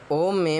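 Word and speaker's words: ओम्: बात यह है कि जो ओम में मा है म में हलंत है अर्थात मा आधा है और जब कोई भी वैदिक मंत्र के अंत में मा आता है और अंत में मा आए साथ में हलंत हो आधा मा तो उसको ओम मा ऐसे उच्चारण करते हैं।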